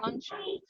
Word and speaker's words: don't you: But sometimes, in some contexts, it will be pronounced as doncha.